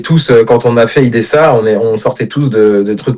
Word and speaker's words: Ydhessä: J'avais un doute justement, il se prononce pas du tout le tréma, c'est IDSA comme ça.